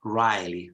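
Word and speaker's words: wryly: it's arai arai and very similar pronunciation is Riley Rye Rye Rye without the initial was Rye generally the the initial W is not pronounced Rye which means of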